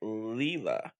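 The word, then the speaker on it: Leila: moonlight called uh i think i think i pronounced her name right leela leela l-e-i-l-a leela leela tool uh she's a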